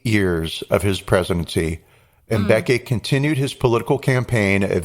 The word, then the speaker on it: Mbeki: 1999 to 2008 during the presidency of, I'll mispronounce his first name, Thabo Mbeki. Sure. Mbeki, that's it, Mbeki.